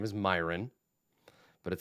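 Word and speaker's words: My'renn: and it sounds like a human name but it's spelled different so it's an elf am his name was myron but it spelled my apostrophe re nn yup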